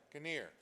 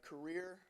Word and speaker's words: Career: candidate caner all right uh i' first like to start to address my name is actually career all right pronounced like the job because I'm the for the job all right so I